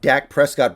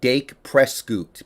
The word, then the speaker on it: Dak Prescott: Like he was watching the highlight of Dak Prescott breaking his leg, and he kept calling him Dake Prescoot because he didn't know how to pronounce the name, but no one is that stupid.